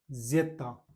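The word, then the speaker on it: zeta: और एक जेता, जेता बोलते हैं जेड को, ठीक है। इसमें थोड़ी सी तय की भी ध्वनि आती है तो जेता, इस प्रकार से यहाँ पर ये जेड को बोला जाता है।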